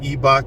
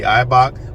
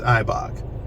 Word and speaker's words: Eibach: from eibach and I'm sorry if I've said ebock in the past because I've always known it to be eibach but I saw somebody on YouTube say ebok and I'm like maybe I'm saying it wrong it's eibach eibach lowering springs uh informed